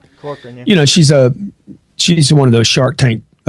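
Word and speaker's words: Corcoran: Am I pronouncing her name right? Cochran, yeah.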